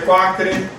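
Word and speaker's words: Quaker: tá então olhada comunidades ok enfim que se pronuncia quacre é eles andavam avesso usar uma série de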